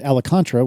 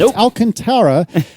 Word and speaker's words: Alcantara: incorrectly in my head I always pronounced it alantra which is not even close to correct but Alcantara or or close to